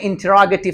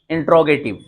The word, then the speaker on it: interrogative: इसी तरीके से अच्छा आपको इसमें इंटरोगेटिव सेंटेंस बनाना है। कौन सा, इंटरोगेटिव। बहुत से लोग इसको पढ़ते हैं इंट्रोगेटिव। This is नॉट इंट्रोगेटिव, that is the correct pronunciation of this word is इंटरोगेटिव।